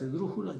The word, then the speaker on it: esdrújula: Sin pestañear, ustedes ya saben que todas las esdrújulas llevan acento. Ojo, la palabra esdrújula es esdrújula.